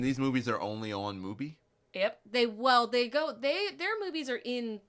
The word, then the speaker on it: Mubi: It took me literally until we had the episode where I said Mubai to realize that it is a play on the word movie. Mubi.